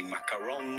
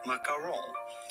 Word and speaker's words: macaron: In too much at the end, do not say macaron, but rather macaron. Or again in French, macaron. Les délicieux macarons. Macaron. So, los macarons, guys. Se dice macarons.